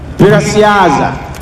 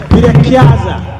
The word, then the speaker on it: Birakiaza: named my baby gorilla Birasiaza. I think I said that right. Birasiaza. Yes. Is that right? Yes. Birakiaza. There we go. Birakiaza. I said it wrong. Sorry.